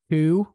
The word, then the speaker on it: coup: Coup was there. Love a good coup. Silent P at the end.